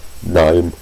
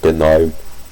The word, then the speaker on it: GNOME: So it's like it's for GNOME or GNOME. I mean, really, I'd say technically both pronunciations are correct.